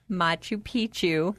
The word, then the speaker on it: Machu Picchu: so I will let one of you guys pronounce it. Machu Picchu.